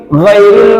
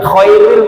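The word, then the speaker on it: غير: ya giril jangan khhairil ghairil magdubi ghairil jangan Khairil beda-beda Tipis loh Khairil magdubi kalau Khair itu kebaikan Kalau ghair itu bukan iya Makanya kalau salah salah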